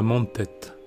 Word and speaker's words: Mentet: Bienvenue à Mantette, si l'on respecte la prononciation catalane.